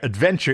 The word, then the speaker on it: adventure: Delta quadrant yeah where Adventure is pronoun is pronounced adventure and so it naturally rhymes with dementia okay and he says